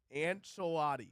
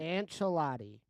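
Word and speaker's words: Ancelotti: you read anela's name and say it correctly an chelotti and an chelotti yes that's a famous what he say can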